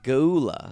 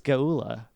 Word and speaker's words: Geulah: Geulah?